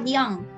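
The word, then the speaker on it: bien: di akhir tidak dibunyikan kemudian ini dibaca biang fried biang oke apa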